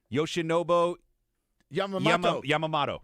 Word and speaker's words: Yoshinobu Yamamoto: Can you pronounce it? Yoshinobu Yamamoto.